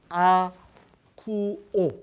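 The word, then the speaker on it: ἀκούω: 이 헬라어 원문은 아쿠오, 이 발음이 아쿠오인데 이 동사는 무심코 듣는 것에 그치지 않고 이를 기울이거나 순종하는 것을 의미합니다.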